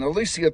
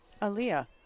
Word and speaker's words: Aaliyah: for Northwest number nine Alicia turos and number 11 Amaya Alvarez I think I said her name wrong I said Alicia that's not her name Aaliyah yeah I know I